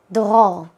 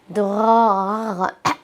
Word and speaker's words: Dror: Israelis would say Dror, Dror. It's pretty hard to pronounce, but Israelis have pretty thick skin, so no one will be offended by a mispronounced name.